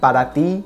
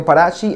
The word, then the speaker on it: Parati: Parati, it sounds like Parati, like in Spanish, for you. But it's Parati. I think that's how you pronounce it in Portuguese.